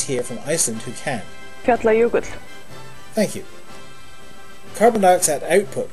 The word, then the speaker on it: Fjallajökull: It is called, well, I can't actually pronounce the name, but I have a guest here from Iceland who can. Fjallajökull. Thank you. Carbon dioxide output from... Fjallajökull.